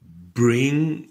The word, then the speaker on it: bring: Bring, brought, brought. Quand on a la terminaison ng en anglais, on ne prononce pas le g. Ing se prononce ing.